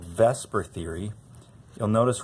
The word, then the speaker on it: VSEPR: So that would be a little weird to say, VSEPR, and we just say VSEPR.